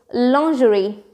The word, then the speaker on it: lingerie: How would you pronounce it? Lingerie? Lingerie? No, it's none of them. It's lingerie.